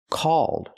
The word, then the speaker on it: called: I cannot say this app is called fan chat. Cold. Cold is I'm cold. The word is pronounced called.